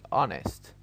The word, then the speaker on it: honest: now we move to the fourth one where the h is silent and the word below honest honor hour honest honor hour all